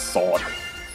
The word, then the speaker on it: sword: want to pronounce it the english manner is actually pronounced with a silent w so it's sword anyways enough of english